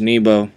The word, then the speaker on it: N3bo: he goes by uh nebo it looks like n3bo but it's pronounced nebo his profession he's a